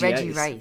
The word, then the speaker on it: Regice: No, but everyone throws the extra syllable in there. Reggie, because there's Registeel and Regigigas, but this is just I just want to call it Reggie Rice.